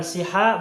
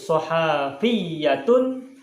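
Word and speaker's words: صحفيون: nih Nah nuso hafiyani bacanya bukan shiha bukan Suha tapi sohafiyun lalu menjadi soal via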